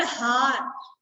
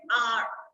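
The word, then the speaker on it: hour: इट इज नॉट हार, इट इज आर. Uh sound होती है, ह नहीं होती. एच साइलेंट होता है इसमें.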